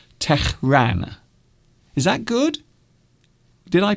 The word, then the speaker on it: Tehran: I hope I'm pronouncing it right, because I believe you have to pronounce the H very harshly. So maybe it's Tehran.